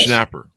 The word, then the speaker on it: Schnapper: AIDS the Joel uh I'm not sure if I'll get this last name last name pronunciation correct shner sh schnapper yes schnapper okay the Joel schnapper